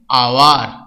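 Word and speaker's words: hour: তুলনা করে দেখো, এ হোটেল, ঠিক আছে, এইচ উচ্চারণ হচ্ছে হ কিন্তু অ্যান আওয়ার, এইচ দিয়ে শুরু কিন্তু উচ্চারণ আওয়ার আ, সেই জন্য এটা আমরা অ্যান বসাচ্ছি এইচ দিয়ে শুরু হওয়ার আগে।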